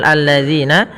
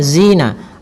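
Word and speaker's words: الذين: kemudian pada lafal zina hati-hati dalam melafalkan kan zalnya. Jangan sampai kita membacanya dengan zina. Alladzina enggak. Tapi dia alladzinaatalladzina alladzina panjangnya adalah dua harakat.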